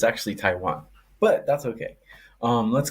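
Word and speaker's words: Taijuan: yep oh yep yep that hot scene okay ton Walker strikeouts over three and a half let's go pres I love how you pronounce everything French but it's actually Taiwan but that's okay um let's go to Taiwan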